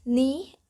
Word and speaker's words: knee: written english for example k and g are no longer pronounced before the nestles but we still write the words knee and now with the